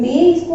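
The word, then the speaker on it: maïs: इसका मीनिंग होता है बट, बट, और इसको हम पढ़ेंगे क्या, मे, ऑनली मे, इसको हम प्रोनाउंस करेंगे एंड इसका मीनिंग होता है बट।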